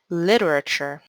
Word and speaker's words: literature: word is on lit the last t in literature has a ch or ch pronunciation so how do we pronounce this word literature dependable how many syllables